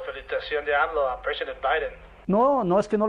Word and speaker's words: Biden: Neni, no se dice Biden, se dice Biden. Como la mano. Bye, then.